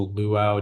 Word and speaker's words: luau: lively music at the Luau during their Hawaiian vacation. Luau. Can I please have the alternate pronunciation? Uh, it's just luau. There's only one.